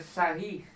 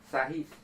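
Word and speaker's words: Sarrus: é o método aqui se escreve sarros mas se se pronuncia sarris saris porque é francês Tá ok então o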